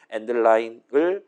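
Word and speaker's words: endl: 그다음에 그 꺾세의 결과값을 좌항에 두고 우항에다가 STD 콜론콜론 and드 L 얘를 보통 이제 저 L을 라인에 줄인 말이라고 쳐서 엔드라인이라고 저는 일단 보통 발음을 합니다. 아무튼 엔드라인을 우항했다 담고 다시 한번 꺾세거 돌리는 거예요.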